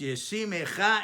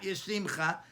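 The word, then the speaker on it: יְשִׂמְךָ: So it's pronounced Yesimecha Elokim, not Yesimcha, Yesimecha Elokim as a shivana, following the hirik katan.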